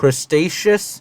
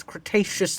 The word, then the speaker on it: Cretaceous: lived in the Cretaceous people crustaceous how do you mispronounce Cretaceous like that period and inhabited South